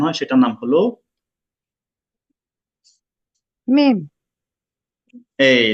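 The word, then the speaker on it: ميم: এটা পড়তে হবে 3 আলিফ টান দিয়ে, তাই মানে 3 সেকেন্ড পরিমাণ টানতে হবে। আমি শোনাচ্ছি। মিম।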